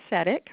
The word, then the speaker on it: CEDIK: And I'm going to start off by saying our acronym is CEDIK. We like to say it rhymes with medic because it can be confusing sometimes with how to say it.